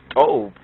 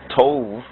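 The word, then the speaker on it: טוב: root, we find that Tov is pronounced correctly as Tob, and then we have Tobiya to be the ancient and archaic name for Ethiopia from our highland Ethiopian source.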